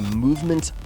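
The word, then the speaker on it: MVMT: shirts this episode is brought to you by movement watches that is spelled MV MT movement watches I first became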